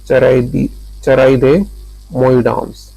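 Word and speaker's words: Charaideo Moidams: ठीक है, भारत की 43वीं यानी कि 43rd विश्व धरोहर स्थल थी चारादियो मोइडाम्स जो असम में है। इसका प्रोनाउंसिएशन क्या है, मैं एक मिनट, चराइदियो मोइडाम्स असम में है। ठीक है, चराइदे मोइडाम्स, चराइदे मोइडाम्स असम में है।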